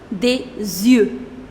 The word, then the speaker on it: des yeux: And to make it plural, you will put des yeux.